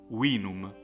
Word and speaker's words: vinum: V is not pronounced like in English, but it's pronounced like the W of wet. And so the Latin word will be pronounced vinum, and it means wine.